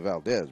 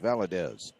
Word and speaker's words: Valadez: two in valdez valadez i got his name wrong i called him valdez but valadez was the first foul johnson will make